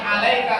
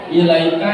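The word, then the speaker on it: وإليك: Kadang-kadang salah nih, kadang-kadang alaika bacanya. Yang betul adalah wa ilaika ya'udhu salam. Jadi kepada engkau aku kembali ya Allah dengan selamat.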